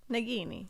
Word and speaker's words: Nagini: That's the hard G.